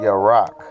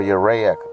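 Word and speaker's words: ירח: to the Hebrew is the Hebrew word your rock or you react as some will pronounce it you see that what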